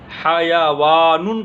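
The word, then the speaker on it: حيوان: इसी तरह एक लफ्ज़ हैवान है, इसको अरबी में हयावानुन कहा जाएगा। ज़रा इसका प्रोनाउंसिएशन मुख्तलिफ है, हाँ पर भी ज़बर पढ़ना है, या पर भी ज़बर पढ़ना है, हयावानुन, और इसको अंग्रेज़ी में एनिमल।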